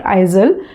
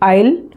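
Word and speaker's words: aisle: पढ़ा था तो मैं उसे आइजल पढ़ती थी। Okay, but later on when I come to know that it इज़ नॉट आइजल, मैं उसको आइल, उसका करेक्ट फोनेटिक प्रोनाउंसिएशन मैंने डिक्शनरी में देखा, उसका उच्चारण है आइल।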